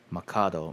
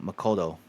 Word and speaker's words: Makoto: Makoto. Man, I've been saying his name wrong for like most of this series. That's fine. Um, Macado. Makoto. I I'm still doing it.